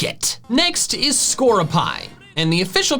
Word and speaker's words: Skorupi: So skroopy makes more sense. Well, they actually say skroopy, but like the emphasis doesn't matter as much as like how you say it, so I'm probably gonna go with skroopy.